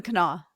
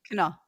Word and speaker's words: Kanawha: Kanawha. The canal. I fought the canal and the canal one. The ha is Charleston silent. Valley. What? The ha is silent.